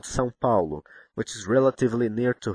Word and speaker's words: São Paulo: See the sign on the top of the A? I mean this one. We call it tio. It indicates both nasality and a stressed syllable.